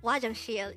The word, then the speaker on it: 화장실: is chang and the third syllable is shield pronounce it with me the korean term wajan shield is simply the korean noun for bathroom again